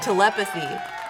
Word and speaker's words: Telepathy: I always say this word wrong. Telepathy. It just sounds... Yeah, it sounds a little off. I'm still saying it wrong. Telepathy. Yeah! Oh, emphasis on the E. Telepathy.